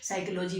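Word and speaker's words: psychology: English में silent कहते जैसे साइकोलॉजी में पी साइलेंट हो जाता है नॉलेज में के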